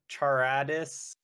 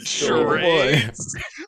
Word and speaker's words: Charades: Charadis was... Charades. Oh, Charades. My God. Jesse. Charades? So how is it pronounced? What? Charades. Oh, that's charades. Oh, okay.